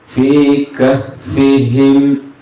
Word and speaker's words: في كهفهم: അതുപോലെ തന്നെ ഫീ കഹ്ഫിഹിം, ഫീ കഹ്ഫിഹിം എന്നുള്ള വായന നമ്മൾ മാറ്റിയിട്ട് ഫീ കഹ്ഫിഹിം എന്നുള്ളത് അത് പിന്നെ ഹർക്കത്ത്